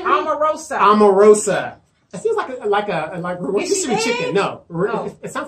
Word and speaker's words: Omarosa: Omarosa. It seems like a rotisserie chicken. No. It sounds like a rotisserie chicken.